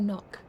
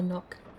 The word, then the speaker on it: knock: because n is for knock you okay you spell it with a K but the K is silent so n for knock makes sense to me